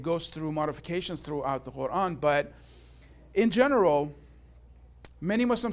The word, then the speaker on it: Quran: I pronounce it the Arabic way. Some of you asked me today, why are you pronouncing it differently? Because in English, we don't have the sound, we don't have it. So the closest that we come to is the Q.